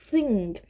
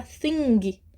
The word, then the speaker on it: thing: sem voz the thing e esse G fica bem fraquinho Tá bem enfraquecido na hora de falar a gente fala Thing Thing Não Tem um i no final a gente não vai forçar o som do G é G mas vai sair fraco Thing Thing quase fugindo da boca tá with mais um